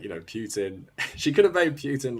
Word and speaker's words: Putin: yes i called him putin it's how you pronounce it in the uk it's like how we